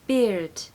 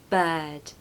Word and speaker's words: bird: her his and her when you say her that's the same sound as inside bird okay her but we do not want beard beard I hear that a lot don't pronounce the art either don't be tempted to pronounce that R just take it away bird number seven up